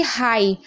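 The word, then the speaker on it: high: समझ गए अब देखिए हाई हाई में भी आप देख रहे हैं लास्ट में जीएच है तो जीएच को नहीं पढ़ा जा रहा है तो कितना सिंपल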